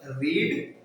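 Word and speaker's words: read: ठीक है, इसी प्रकार आपका एक होता है रीड, रीड रेड रेड, रीड रेड रेड, कोई स्पेलिंग में बदलाव नहीं, सिर्फ उच्चारण प्रोनाउंसिएशन में बदलाव है।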